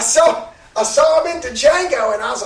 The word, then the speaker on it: Django: I saw him in Django and I was like holy he's gained like freaking 50 pounds the D is silent it is a musty